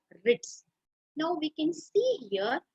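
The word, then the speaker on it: writs: rich w-r-i-t-s it is pronounced ribs the blue is silent here now rit what is this wit a lip can be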